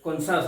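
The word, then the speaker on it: conscious: উচ্চারণ হয় না যেমন সাইন্স আছে ফ্যাসিনেট আছে কনসাস আছে এইযে কনসাস ফ্যাসিনেট সাইন্স এর কিন্তু উচ্চারণ হচ্ছে না ঠিক আছে ক্লিয়ার হল জুস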